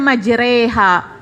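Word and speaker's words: مجراها: Bismillahi majreha wa mursaha Kenapa kita bacanya majreha tidak majroha Kenapa gitu majreha majreha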